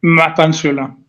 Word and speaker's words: Mapantsula: So before we get right into yes, Mapantsula, yes, and did I pronounce it right? Mapantsula? Mapantsula.